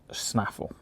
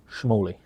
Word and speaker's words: snaffle: That's supposed to say snaffle. Snaffle? But I think I pronounced it schmally. But it's definitely a snaffle.